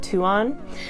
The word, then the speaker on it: Tuon: moons, and I believe her name would be pronounced Tuon.